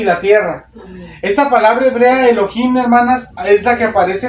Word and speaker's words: Elohim: que dice dice Elohim Pero como se pronuncia es Elohim porque está en hebreo esta palabra elohimmer hermanas